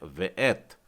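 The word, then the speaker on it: וְאֵת: तो इसका उच्चारण है वेएथ और इसका अर्थ होता है और।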